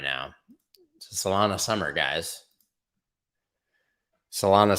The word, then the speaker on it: Solana: now salona summer guys solana summer rhymes with donna summer kinda ton of summer